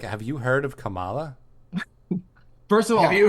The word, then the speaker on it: Kamala: So at somewhere, so I was like, I'm working for Kamala Harris, whatever, and they're like, the woman's like, "You pronounced it like Trump does. It's Kamala."